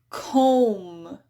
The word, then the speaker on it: comb: Similarly, crumb, comb. Notice how that B is just really quiet if it's even there at all.